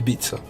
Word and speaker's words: Ibiza: it's like IB for like British people always say before but it's actually Ibiza it doesn't sound as fun I think don't quote